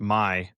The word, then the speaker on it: MAAI: So MAAI, pronounced my services group, we work with primarily